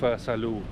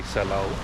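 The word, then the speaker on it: Salou: than in Salo in Saloo I mean keep making this mistake cuz in the Netherlands you say salow which is uh the Dutch pronunciation but Spanish is saloo.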